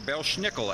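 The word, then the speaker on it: Belsnickel: wearing a mask maybe D Bel schnickel actually is how the Germans say it it sounds better when you say it right doesn't it uh he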